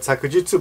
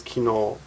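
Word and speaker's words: 昨日: Also read sakujitsu, but almost always kino.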